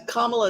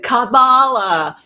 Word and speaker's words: Kamala: uh uh kamla as kamla is how you say it by the way I uh I looked it up and I had I looked at how people are saying Kamala you're doing it wrong it's supposed to be